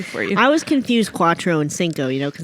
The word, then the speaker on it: cuatro: had a coffee called cuatro and it is in fact c-u-a t-r-o it doesn't sound that way at all all right well okay okay so basically the c is kind of like a queue though yes because it's